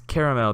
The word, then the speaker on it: caramel: How do you pronounce caramel? 3 syllables.